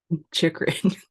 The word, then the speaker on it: Chychrun: Chychrun.